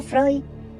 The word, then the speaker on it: Freud: Según Freud, pronunciado Freud es la prevención sexual consistente en obtener el mayor placer sexual con cadáveres.